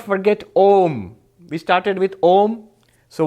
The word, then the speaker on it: Om: And if you put it together, A and U together by Sanskrit grammar becomes O. If you try to pronounce O, it becomes O. So Om.